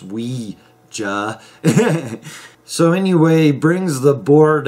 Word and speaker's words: Ouija: to this movie I now learned it's not pronounced Ouija it's pronounced we Hey so anyway brings the board out and he